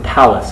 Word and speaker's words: talus: actually going to be the thallus, or talus if you don't pronounce the H, which is your ankle bone.